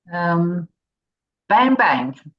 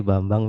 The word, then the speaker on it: Bambang: Bang Bang. Yeah. Iravan. It is actually Bambang, ma'am. Bambang. Yes, the way to pronounce Bambang. my name, it is Bambang.